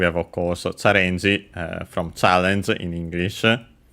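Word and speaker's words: チャレンジ: Well, first and foremost, we have, of course, Challenge from challenge in English. Check its accent. Okay, the accent is on the re, so challenge.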